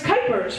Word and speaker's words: Kuypers: RS I've gotten cers cupers cers and like it's kers rhymes with Hyper seems kind of fitting